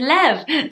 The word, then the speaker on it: Lev: The V is really strong, it's really, really cute. It's a little bit like Kev. But it's Lev, so how can you not like that?